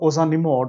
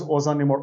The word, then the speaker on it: ozanimod: So guys, if you look at this drug ozanimod which is approved in 2020, it rhymes with another drug that is called as fingolimod.